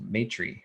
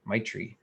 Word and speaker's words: Maitri: Elephant Journal on the topic of Maitri or Maitri, which it's spelled Maitri, and loosely translated the word from Sanskrit, it means loving kindness.